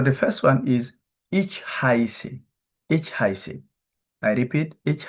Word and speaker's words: heiße: Okay, the pronunciation is ich heiße.